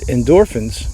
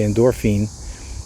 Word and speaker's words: endorphins: And endorphins, well, that's how we pronounce it, right? We don't say endorphine.